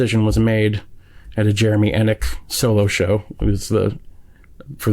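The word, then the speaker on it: Enigk: And as soon as you said the name Jeremy Ennick, is that how you say it?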